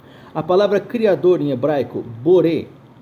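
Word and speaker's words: בורא: A palavra criador em hebraico, boré, se escreve com bet, vav, resh, aleph, boré.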